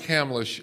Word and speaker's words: Hamlisch: must say with with a name like Hamlisch and the first name you know first the syllable is ham the idea of hearing